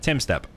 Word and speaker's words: Tumstep: player that is GC time step or apparently you're supposed to say it like Tim step should retire well according